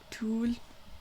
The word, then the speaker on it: 둘: It's kind of a T sound in there as well. 둘.